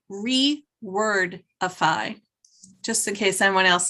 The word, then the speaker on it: Rewordify: And The name of the app, Julie, is called rewordify. Just in case anyone else is listening and they want to know it. Rewordify. REWORDIFY.